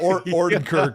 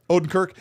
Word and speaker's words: Odenkirk: Ordenkirk, right? How do you say his last name? The Better Call Saul. Odenkirk.